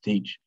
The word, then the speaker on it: Teach: It's pronounced Teach, spelled probably T-H-A-C-H-E.